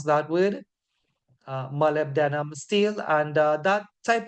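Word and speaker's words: molybdenum: as Chrome MB denim steel that's how they pronounce that word malib denim steel and uh that type of Steel is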